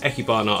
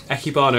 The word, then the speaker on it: Ikebana: built this ecke barn i think it's pronounced ecky barnett i've been corrected echibano aquarium for just some